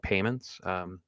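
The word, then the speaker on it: PYMNTS: I assume they want it pronounced just like Payments, even though spelling sounds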